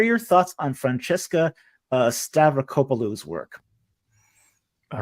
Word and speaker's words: Stavrakopoulou: now that was that would be difficult to pronounce if you didn't know how to do it which you didn't uh stavrocopalu is um is wow she's Fringe okay she's